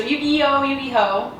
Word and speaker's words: Yu-Gi-Oh!: Well, it's spelled like Yu-Gi-Oh, but there's an H, and I don't know Yeah, I know. The H is in the wrong place, so it's Yu-Gi-Oh!